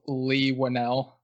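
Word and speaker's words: Leigh Whannell: of different interviews where they pronounce it as lee winnell damn it so right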